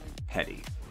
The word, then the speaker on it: petite: french for small and then this context it's pronounced more like petty so petty bourgeoisie who have done well enough